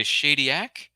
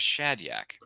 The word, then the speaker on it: Shadyac: Michelle goes on to say Shadyac. So that's how you pronounce that name. I thought it was Shadyak.